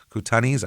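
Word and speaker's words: Kootenais: K O O T E N A I S Koutanis.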